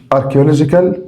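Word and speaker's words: archaeological: دي اركيولوجيكالولوجيكال اركيولجيكال كلمه اركيولوجيكال معناها اثري اركيولوجيكال معناها اثري خلي بالك هنا السي اتش انطقها كي اركيولوجيكالكيولوجيكالكيولوجيكال معناها اثري ديجيتال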